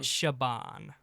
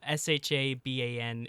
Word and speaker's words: Siobhan: how do you say her name Siobhan Shabban Shabban. Sha Sha S h a b- an is how you pronounce it. Shabban.